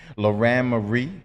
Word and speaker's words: Lauran Marie: I have right now sitting next to me, Lauran Marie. Lauran Marie. Lauren? Yes. Okay, I It's don't just know why. it's just spelled with an A instead of an E, but it's Lauran Marie.